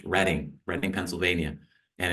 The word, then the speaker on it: Reading: is actually referenced on the Monopoly board spelled reading pronounced reading Reading Pennsylvania and it's one of the railroads